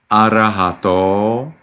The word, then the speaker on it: Arahato: The vowel at the end of Namo and then Bhagavato and Arahato is actually long, and it needs to be clear from your pronunciation. Namo tassa Bhagavato Arahato Samma Sambuddhassa.